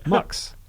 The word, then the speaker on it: Max: here's the fact max Verstappen or if you're pronouncing it properly MUX first up and is MUX for stopping that